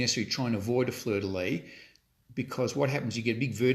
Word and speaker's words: fleur-de-lis: Now, interestingly, it's actually pronounced fleur-de-lis, but I think fleur-de-lis sounds sort of a bit more romantic, so I'm going to still call it fleur-de-lis, although technically it is fleur-de-lis.